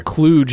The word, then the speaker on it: Cluj: Cluj is the correct pronunciation of that name.